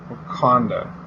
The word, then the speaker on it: Wakanda: It's like Wakanda? Wakanda.